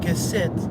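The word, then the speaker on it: קשת: Now that word, the Hebrew word bow, used in Genesis 9:17, is keset or kese. Yeah, they pronounce the T at the end, keset.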